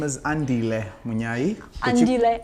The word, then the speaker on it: Andile: Oh, I'm happy you can pronounce my name. Thank I you. normally tell people to call me Andy because Andile is so difficult. Okay. You pronounce my name well.